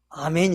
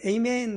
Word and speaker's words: 아멘: 알아듣는 단어가 할렐루야 와 아멘 입니다 아 미국의 발음으로는 a 메인 그러더라구요 양 님의 우리는 아멘 이렇게 말합니다 할렐루야 라는 말은 하나님을